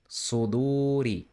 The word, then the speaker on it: صدوري: Fi so do, then stretching ri suduri suduri suduri suduri. This letter is like the English se, but heavier, deeper, and pronounced with a wider tongue.